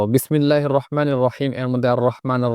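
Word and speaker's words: الرحيم: রহিমের মধ্যে র মোটা হবে, হা উচ্চারণটা স্পষ্ট হতে হবে।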